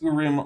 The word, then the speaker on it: Urim: Um, amb quantum Yiddish Z for $5 says, "But behold, but I feel like you should know that Mormons pronounce urim like urine."